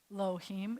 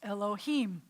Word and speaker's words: Elohim: so you know that it's not like er elohim it's elohim at because that's where the chop mark is so you always